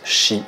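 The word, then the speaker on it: 四: au Japon où le chiffre 4 se prononce Shi, qui veut dire littéralement mort.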